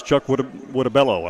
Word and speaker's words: Chuck Whittabello: And the actual pronunciations is Chuck Whittabello, and I almost stumbled there over that again.